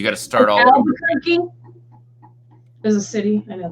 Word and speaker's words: Albuquerque: Albuquerque is a city. I know that, but well, yeah, but how do you spell that?